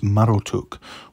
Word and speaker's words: Marduk: is the dragon mushushu marduk whose name was likely originally pronounced as marotuk was associated with the